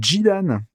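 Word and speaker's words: Djidane: se voit pas trop, ils ont pris le nom en se basant sur la prononciation des kanas, et donc il s'appelle Jidan, écrit D-J-I-D-A-N-E. Eh ben ouais, mais je sais pas pourquoi est-ce qu'ils l'ont écrit Zidane avec un Z, du coup.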